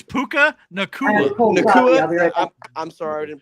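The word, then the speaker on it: Puka Nacua: Just like dropping Puka Nuka this year, which was Puka Nuka? Disrespect on that man's name is absurd. It's Puka Nakua.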